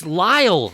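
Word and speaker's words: Lile: expected like 16 letters it's just it's Lyall it's is that how you what is l i l e I think it's safe to say that that's Lyall I have that is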